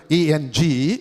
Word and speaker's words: English: Disyllabic word, 2 syllable. ENG 1 syllable, LISH 2nd syllable. Accent எங்க விழும்? It falls on the first syllable.